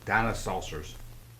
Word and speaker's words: Dinosaucers: soon now how many would tell me is pronounced dino saucers thank you sir for that unsolicited testimony